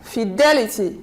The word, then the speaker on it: fidelity: syllables be begin be then we have the word f Le T we have the T here it means anti penultimate stress we count one two three we stress here Fidelity Fidelity then we have